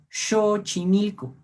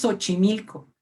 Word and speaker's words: Xochimilco: nos hubiéramos callado bien este sonido es el que representa la letra x y por lo tanto tenemos para ver como méjico bien xochimilco no es xochimilco se dan cuenta el cambio de una s con una equis xochimilco es lo que